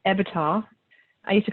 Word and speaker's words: EBITDA: have never heard of this, this number, this EBITDA, which I always say it wrong, EBITDA.